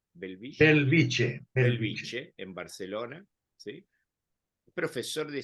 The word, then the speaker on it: Bellvitge: el Hospital Universitario de beltisien no es así se pronuncia belviche en Barcelona sí profesor